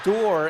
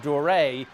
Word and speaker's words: Deray: including his head coach had mispronounced his name as dorr instead of dorae is symbolic of last